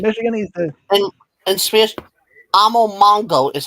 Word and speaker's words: Amomongo: And Spears, Amomongo is how you pronounce that word.